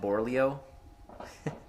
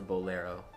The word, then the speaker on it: bolero: how I pronounce it I used to call it borleo but it's the bolero it's also I think